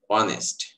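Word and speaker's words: honest: আবার এইচ এর উচ্চারণ যদি হ না হয়ে অ, আ, এ হয়, তাহলে আমরা এ ব্যবহার না করে তখন এন ব্যবহার করব। যেমন অনেস্ট, অনার্স, honourable, অনারেরি, hour, air, এখানে উচ্চারণ হবে এতটুকু, এইচ এর উচ্চারণ হবে না।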